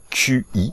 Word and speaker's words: qi: Alors, ça existe dans le taoïsme, le qi, le fameux QI, hein, ça se prononce en chinois qi, d'ailleurs, qi ça veut